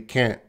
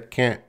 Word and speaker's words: can't: So they'll just say it very quickly, can't. There is a T there, can't. But it's very reduced sound. And some native speakers will, say it right loud. Can't. Can't. Can't. Can't. Both are okay.